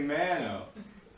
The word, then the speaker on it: mano: called what's it called mana it's actually mano but it is a feminine now in spanish it's la mana which is irregular because the ends and they